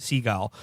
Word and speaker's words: Seagal: and his name is steven segal pronounced seagull um and i got